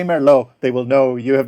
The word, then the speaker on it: Merlot: going to receive a merlot so you have to pronounce the t at the end if you say merlot they will know you